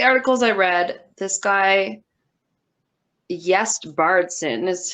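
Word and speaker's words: Gjest: For most of the articles I read, this guy, Jest Bardson, is how I think it's pronounced, because his first name starts with a GJ. So I'm just going to pronounce that as a Y sound.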